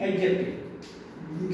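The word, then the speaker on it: adjective: एडजेक्टिव हाँ, डी नहीं बोलते, इट इज एडजेक्टिव, साइलेंट होता है।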